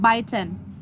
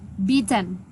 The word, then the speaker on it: beaten: Anyway, you pronounce it biten. So the correct pronunciation is beaten.